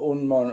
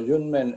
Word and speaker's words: Yunmen: Quisiera hacer algún tipo de introducción al maestro Unmon o Junmen en su pronunciación china.